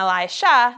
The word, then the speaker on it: Elisha: If you look at the words, you can see that Elijah, who went to Mount Carmel for the fire setup, is spelt like this, with a zh sound. And Elisha, that comes into the story today, is spelt like this, with a sh sound.